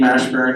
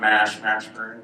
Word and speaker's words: Mashburn: So, MASH, it's actually Mashburn. My name is not Mash Mashburn, but a lot of kids seem to think that it is, because they don't know how to say 2-syllable words. Mash and burn.